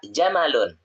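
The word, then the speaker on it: جَمَلٌ: Jadi jangan bacanya mimnya dipanjangin, tapi mimnya pendek. Hadza jamalun. Karena kalau mimnya panjang itu jamalun itu artinya indah. Tapi kalau mimnya pendek, jamalun onta gitu ya.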